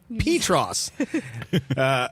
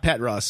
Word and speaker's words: Petros: First, the town is named Petros and is pronounced Petros. Like P, then toss, but with an R sound at the end. Not Petros.